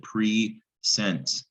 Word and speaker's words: present: present yeah that makes sense or is it pre-sent ted yeah this is presented and presented root